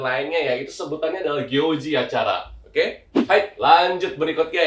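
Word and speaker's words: 行事: Cara bacanya itu adalah gyoji ya, jadi suginogyoji no junbi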